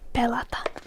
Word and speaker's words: pelata: And next is to game, which in all of its simplicity in Finnish would just be pelata.